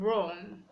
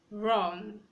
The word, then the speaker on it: wrong: Letter W is not pronounced when it comes before letter R. We have words like right. We have wrong, wrong.